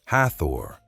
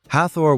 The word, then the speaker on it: Hathor: In English, the standard spelling is Hathor, usually pronounced something like Hathor.